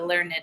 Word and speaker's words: learned: When I heard the learned astronomer, so the learned astronomer would be how we pronounce it without it, but because the hyphen is there, it's Learned.